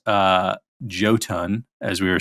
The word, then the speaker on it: Jotunn: I did look up how to pronounce uh joton as we were saying it apparently it's a icelantic word um and it's actually apparently pronounced yuton okay yeah and it apparently it's um attributed